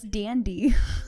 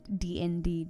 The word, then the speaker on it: DND: then we realized that she was pronouncing it as a word and not the phonetics and DND DND it was adorable